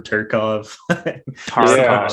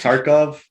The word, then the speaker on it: Tarkov: apex zac watson's playing escape from turkoff different say it right josh what is it tarkov tarkov alright whatever um i